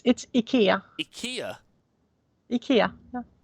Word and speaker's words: Ikea: before we go, which was, how do you pronounce Ikea in Swedish? Apparently it's not what I think. Yeah. It's Ikea.